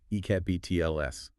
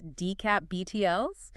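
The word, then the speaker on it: DCAP-BTLS: that's a mouthful so how would you even pronounce that one ecap btls not quite you'd pronounce it as dcap btls and then there's USR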